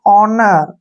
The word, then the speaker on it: honour: HONOUR, H के बाद फिर से O आया है तो H को हमने यहाँ पे साइलेंट रखना है, इसको पढ़ेंगे हम ऑनर, ऐसे ऑनर। ऑनर नहीं पढ़ना है, ऑनर।